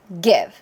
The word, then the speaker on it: give: 뒤에는 이는 묵음이에요. 그래서 give. 이때 소리는 1음절인 거죠. 그러면 1음절처럼 소리 내셔야 돼요. give 하는 순간 2음절 되죠. 그래서 이렇게 소리 내시면 안 돼요.